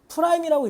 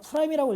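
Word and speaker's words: prime: 이거 그리고 이런 프라임이라고 읽어야 알겠죠? 그냥 프라임이라고 읽으시면 돼요. 다시라고 읽지 말고.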